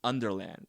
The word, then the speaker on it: Underland: it's not called Wonderland, but it's actually pronounced in the movie Underland. And she's just Oh.